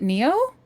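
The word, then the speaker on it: Nioh: No, I've never heard anyone pronounce the title, so I thought it was Nio. Is it Neo? Like, from The Matrix? I've never heard anyone pronounce it. Neo? Oh, okay, I'll try to remember that. I might not. I want to call it Nio. It's Neo? Fine, if I have to pronounce it the proper way, I will.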